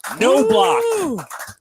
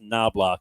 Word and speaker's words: Knobloch: It is Caitlin No Block. Thank you. You got it right. No block. Thank you. Caitlin told me this week her name is not pronounced Knobloch, even though it's spelled that way.